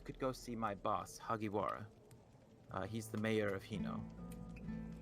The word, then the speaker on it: Hagiwara: They like bang their mugs on the Say Haginora? Hagiwara. Wara. How do you spell that?